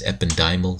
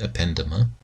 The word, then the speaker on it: ependymal: we have ependymal cells some people refer to them as ependymal cells I pronounce it append Emma ependymal cells are essentially